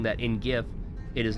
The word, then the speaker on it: GIF: g couldn't be soft I said in GIF it is hard period in GIF it is